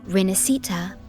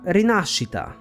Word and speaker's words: Rinascita: are actually two here first of all the s Italian sound does exist in English it's the sh sound so it should have been she but above all they stress the wrong syllable the right pronunciation is not reita but rasita if I write the